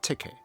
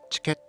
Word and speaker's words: ticket: For example, we say ticket as TI·KUHT, not tikeitə (a Chinese-style pronunciation), and not chiketto (a Japanese-style pronunciation).